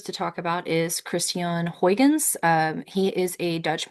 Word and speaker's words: Huygens: talk about is Christian Huygens um he is a Dutch mathematician from the Netherlands so his last name might why might look like Hygens or something like that. It is actually pronounced Huygen.